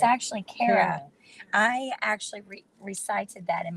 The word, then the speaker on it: Cara: Because she said it's not pronounced Cara, it's Kara. So just think, when you see C-A-R-A, don't think of car, think of the opposite. Care.